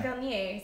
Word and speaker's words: Vernier: Oh, so it is French pronunciation, Vernier.